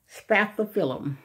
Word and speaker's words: Spathiphyllum: My first tip, you may or may not already know this, is that peace lilies are also known as Spathiphyllums. And I'm going to spell that S-P-A-T-H-I-P-H-Y-L-L-U-M.